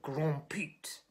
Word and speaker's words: Grand Pete: You pronounce it with a sort of faux French accent of Grand Pete.